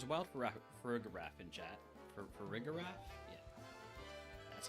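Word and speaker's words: Farigiraf: Farigarath?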